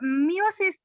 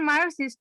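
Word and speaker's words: meiosis: মায়োসিস তো না, মিওসিস।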